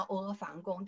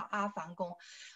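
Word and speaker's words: 阿房宫: 是说这个阿房宫对不对？有些人叫阿房宫，但是西安当地的人他的。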